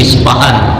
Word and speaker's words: Isfahan: Imam Al asyfahri ini isfahan di Persia ada membacanya isfa'an orang Arab enggak bisa